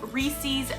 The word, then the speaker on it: Reese's: peanut butter chocolate treats it's called reese's pieces because as a part of your criteria it rhymes and you call them Reese's and